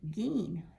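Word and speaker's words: giin: look here mean - two eyes together is always the sound of e so our first word G I i M is pronounced gene the second word -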